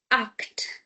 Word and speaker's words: acht: sechs sieben It would be acht. acht Now, again, pronunciation rule, before c h we have a. So, that makes c h k.